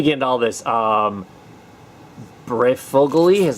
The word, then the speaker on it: Breyfogle: 55 let me get into all this um breyfogle e is how you say it preferably you know